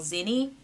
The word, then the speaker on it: Zenni: took me to a website called zinni i guess i'm saying it right zenny so the more i